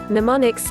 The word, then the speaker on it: mnemonics: to make memorization easier mnemonics the initial M is silent a clues of any